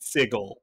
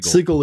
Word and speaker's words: Sigil: I say according to according to the book the second edition book it is pronounced siggle if you're a prime it's sigil if if you're you know if you're a clueless Prime it's sigil if you're if you're